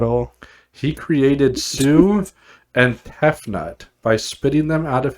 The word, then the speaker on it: Tefnut: to do it all he created sue and tefnut by spitting them out of his mouth that's not i mean i'm sure i'm pronouncing it wrong but that t e f